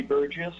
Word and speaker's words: Burgess: my name is Burgess it's a soft G I'm a resident of Fairbanks and I'm justifying on my own behalf and support of SB 52.